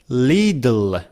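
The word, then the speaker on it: little: pronounce is this one हाउ यू से इट लिटिल लिटल लि one well नेटव speaker से लिल instead of saying it's अ लिटल hard they से इट्स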